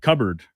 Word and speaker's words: cupboard: I said I I had too much accentuation on the P. Yeah, you you're cupboarding instead of cupboarding. Cubard.